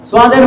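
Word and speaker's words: صاد: তাহলে এটা আমরা মোটা করে উচ্চারণ করে দেখাবো কিভাবে, দেখেন, সাদ। বাচ্চাদেরকে বলবো আমার ঠোঁটের দিকে তাকাও, দেখো আমার ঠোঁট নড়াচড়া করে না, সাদ। আওয়াজটা ভিতর থেকে গোল করে বের করতে হবে, মোটা করে বের করতে হবে, সাদ।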